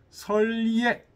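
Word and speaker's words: 設醴: 일찍이 위 목생을 위해서 설예, 요건 예라고 읽는데요. 단술 예자입니다.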